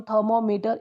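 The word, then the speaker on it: thermometer: 90 number question है the correct stress on थर्मोमीटर इज ऑन, तो इसमें भी हो जाएगा थर्मोमीटर, थर्मोमीटर, थर्मोमीटर, इस पे है ये, है ना।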